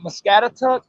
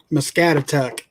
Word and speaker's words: Muscatatuck: Muscatatuck. Muscatatuck.